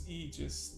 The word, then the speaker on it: Aegis: Is it Aegis or Agis? I sometimes pronounce it with Agis, but I think it's Eegis. That's the English pronunciation.